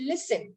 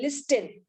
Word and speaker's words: listen: i'm trying to tell i have to cut down the silent t i say listen i don't say listen right so there's a silent word all together so i mark it